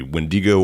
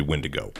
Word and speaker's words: Wendigo: Wendigo? You can pronounce it one or two ways. It's a Native American word, so it can be Wendigo or it can be Wendigo.